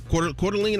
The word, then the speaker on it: Coeur d'Alene: on labor day monday um how do you pronounce it well's core delane coeur d'alene idaho coeur d'alene idaho there great golf that's